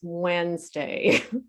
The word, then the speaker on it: Wednesday: is island island and the worst one is wednesday wednesday we don't say wednesday it's wednesday so these are crazy